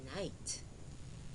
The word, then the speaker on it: night: When GH is silent, it says nothing, as in night, N-I-T, night.